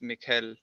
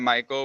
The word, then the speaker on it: Mikhail: Hey, wait, who thought it was Mikhail? This is actually my Russian pronunciation of my name. It's Mikhail. And then we got Michael, which is the English pronunciation.